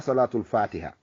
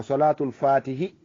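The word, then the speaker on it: صلاة الفاتح: mi wima hay prononciation on no mankirma wona salatul fatiha. si a wi salatul fatiha aɗa wi julde e dow fatiha. ko salatul fatihi, salatul fatihi.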